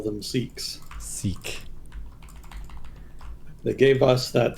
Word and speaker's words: Sikh: Like, you guys have been pronouncing it consistently wrong for this whole time, so we'll just call that a valid one.